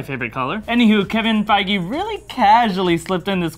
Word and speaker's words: Feige: it's confirmed fige confirmed I like how fige spelled like beige but with an F you mean by my favorite color any who Kevin fige really casually slipped in